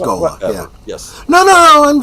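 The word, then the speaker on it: ghola: Gola Gola. That's how it's pronounced. Gola.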